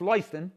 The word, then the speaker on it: Lewiston: I was working at CMVTI when you were running Lewiston, Maine, and it's pronounced Lewiston, just for anybody that's interested.